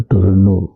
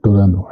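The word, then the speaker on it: Toronto: बहुत लंबी यात्रा के पश्चात आज सुबह मैं टोरंटो कनाडा के ब्रैम्पटन पहुंच गया। लिखते टोरंटो है और अंग्रेजी में जो उसका उच्चारण है वो टोरैनो है।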